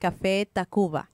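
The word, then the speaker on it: Café Tacvba: It's Old Spanish, and it's pronounced Café Tacuba. Tacuba. Oh, Yeah. okay. So it's just a U. You're using a V, but it's really just a U.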